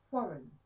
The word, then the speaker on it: foreign: Don't say foreign, say foreign.